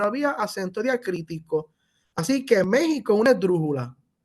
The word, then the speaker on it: México: que se escribe, pero recuerden que en el español para gráfico la X tiene pronunciación de J, así que se pronuncia México, pero se escribe en México.